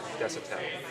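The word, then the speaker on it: Desautelle: your last name it's d e s a u t e l l e Des pronounce desel okay thank you and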